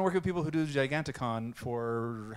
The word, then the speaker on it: Giganticon: Giganticon.